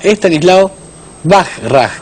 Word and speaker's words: Estanislao Bachrach: El autor se llama Stanislav Bajraj, que es como se pronuncia.